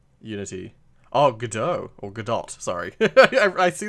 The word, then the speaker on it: Godot: It is Godot. Oh, okay. I was gonna say, because that's the name. That like this Gal Gadot is Wonder Woman, isn't she? And so I pronounce it that way, just because, yeah.